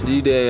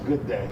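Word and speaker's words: G'day: G-Day, Australia. No, it's a good day. That's how they say it? Yeah, good day.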